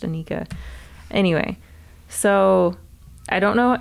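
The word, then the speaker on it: Anarcha: in some ways it's spelled anarka but it's pronounced Anika anyway so I don't know exactly how he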